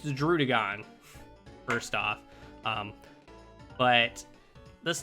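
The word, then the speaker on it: Druddigon: right they're okay droodagon i hear a lot of people pronounce this wrong they go like drudaegon or dr drudigen it's droodagon first off um but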